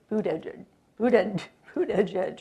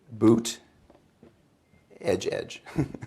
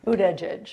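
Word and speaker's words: Buttigieg: a guy named Pete bued bued bued Edge right this is one of his political liabilities nobody can pronounce his last name um it's boot Edge Edge boot Edge Edge yes got it the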